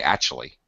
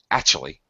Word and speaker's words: actually: actually uh act or some many people uh especially Americans say actually actually very fast you can't even hear a a little K actually an an well actually so you may hear two versions of that with a little bit of a k actually or just actually no k at all just how it is